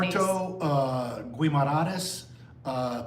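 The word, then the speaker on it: Guimarães: The next day, how do you pronounce all these things? All these things. Porto, uh Guimarades, uh Penafel, and Visu.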